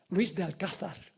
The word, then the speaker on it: Luis de Alcázar: Debo pronunciar como aquí. Luis de Alcázar. Pronunciar correctamente el español, ¿verdad que sí?